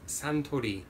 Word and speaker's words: Suntory: Suntory in Japan and don't forget that's pronounced Santo D I believe this single malt